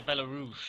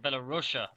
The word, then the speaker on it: Belarus: So when it says Rush, they're bloody thinking I'm saying Belarusia, but it's Belarus.